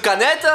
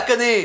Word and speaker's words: Canet: Alors il y a des touristes qui savent pas prononcer Canet qui disent canette.